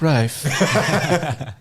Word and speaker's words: Ralph: better if that like he really is named ralph but like when he became famous like no it's rife actually this is how you say my name it's joe dierte such